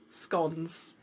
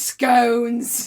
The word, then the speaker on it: scone: with, and I'm going to say it first, scones. How do you say it? It's scones.